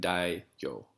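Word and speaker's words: daimyo: hard to pronounce but I believe that the M is silent so it's like Dai yo da yo and so the Shogun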